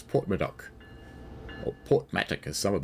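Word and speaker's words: Porthmadog: Because it's spelt Portmatdog, but it's Portmadoc.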